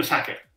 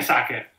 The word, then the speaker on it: Sacher: chiamato lo studio Sacher in quel caso è giusto pronunciare Sacher perché quello studio è stato fondato da un italiano che ha in qualche modo deformato la pronuncia di una parola originariamente straniera quindi la torta Si chiama E chi dice sa che sbaglia ma lo studio che prendere una da quella nota è giusto chiamarlo Sacher allo stesso modo l'aeroplano